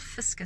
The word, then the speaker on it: FSCA: fiscal they also called fiska some people abbreviated and pronounce it fiska they've got a central